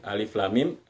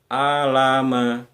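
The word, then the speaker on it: الم: Meme kita baca Meme jadi kita tidak baca Alama gitu ya tapi Alif Lam Mim itu satu baca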